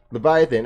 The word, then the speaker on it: Leviathan: We still have not pronounced that name of that raid properly, but... Leviathan. Leviathan, okay, that's it.